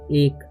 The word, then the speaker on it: ache: ठीक है, अब यहाँ पर लिखा हुआ है ACHE, तो इसका उच्चारण अके नहीं पढ़ना या अच्छे नहीं पढ़ना है, इसे पढ़ते हैं हम लोग एक।